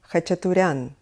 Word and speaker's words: Khachaturian: is Aram Khachaturian Aram Khachaturian of course in all Armenian names the accent is always on the last syllable just like in his name Khachaturian a name that is